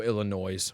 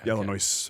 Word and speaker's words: Illinois: say the yes oh Illinois policy yeah okay Illinois I don't I was like oh boy you just pronounced the S I do say Washington you also say Illinois yeah Illinois yeah and